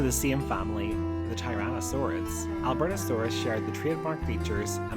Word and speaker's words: Albertosaurus: This is the story of the Albertosaurus, pronounced Albertosaurus, and the Troodon, pronounced Troodon.